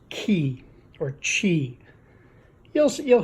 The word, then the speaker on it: Qi: the key charger and it's spelled Qi but it's pronounced key or Qi you'll see